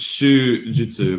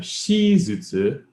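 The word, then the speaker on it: 手術: um right i know i know it's shu jutsu but i the other reading um trips me up right yes i'm right so i kept saying for the longest time shizutsu and everybody knew what i meant even though i was saying it wrong so i never got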